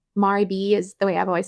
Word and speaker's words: Maribel: it was um I'm going to say her name wrong. How how should I say her name? Maribel is the way I've always said it. Maribel.